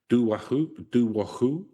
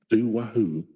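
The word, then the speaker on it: Dobhar-Chú: Some believe the ancient Irish creature of folklore, Doo-war Coo, is like an Irish Loch Ness monster.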